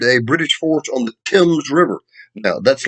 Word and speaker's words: Thames: um harrison defeated a british force on the thames river now that's like the thames river in england it's spelled t-h-a-m-e-s spelled tim but and that happened